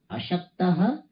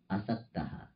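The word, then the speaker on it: असक्तः: But asaktaha, in Sanskrit we have to pronounce properly. Ashaktaha, asaktaha. Ashaktaha means remaining weak.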